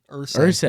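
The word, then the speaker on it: Irsay: How do you pronounce it? Ursay.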